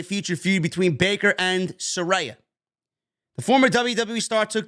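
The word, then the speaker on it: Saraya: came out and said you guys have been saying my name wrong it's Soraya not Soraya Soraya page or Soraya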